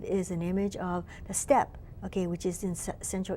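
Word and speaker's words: steppe: an image of a step okay which is in Central Asia it's spelled Stepp e it's known as a step okay Argentina I forget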